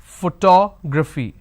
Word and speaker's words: photography: sounds do we have so I need to break it into all the sounds it starts with the first sound four its photo photo girl bruh uh for e okay it's photography photography so how many vowel sounds do I have one two three and 4. so for to grow fee please remember this is